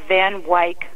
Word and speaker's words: Van Wyck: Yeah, we did a place called the Van Wyck Homestead.